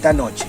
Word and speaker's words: Knoche: Knoche, ceux qui parlent allemand, bien sûr on a tous une deuxième langue et on sait tous comment prononcer ça Knoche, c'est à fond de gorge, mais quoi ?